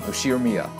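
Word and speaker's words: 右代宮: The first part is my family name, Ushiro-miya. That's a fairly plausible Japanese pronunciation so far.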